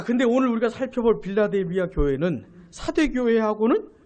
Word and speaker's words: 빌라델비아: 빌라델비아. 이게 한국식 발음이라서 빌라델비아예요. 이런 미국의 필라델피아라고 있지 않습니까? 같은 거예요. 같은 거.